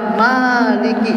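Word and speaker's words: مالك: Waman qara'a maliki, waman qara'a maliki dengan panjang ma-nya, dan barang siapa yang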